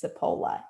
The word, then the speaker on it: Cipolla: going to say it wrong so guys it's cipolla Amy sapola uh welcome dear thank you so much for